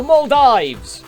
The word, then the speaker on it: Maldives: up it is the maldives sorry thieves i i continent and then e you're supposed to pronounce the first vowel it's long pronunciation it's a long vowel sound yeah um maldives beautiful